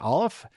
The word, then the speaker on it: Ollam: After that, we'll be talking with Deviant Olaf. And I knew I mispronounced this when I said it earlier. It looks like Ollam, O-L-L-A-M, is how you spell his last name, but it's pronounced Olaf.